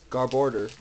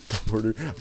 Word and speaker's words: Garbodor: Garborder. Garbodor.